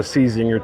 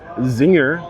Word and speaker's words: Czinger: We made it over to the Czinger tent.